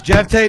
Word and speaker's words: Geoff Tate: Geoff Tate 73, everybody. It's Geoff Tate 96.